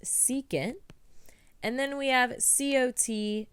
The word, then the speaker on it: secant: We have SEC, which is pronounced secant.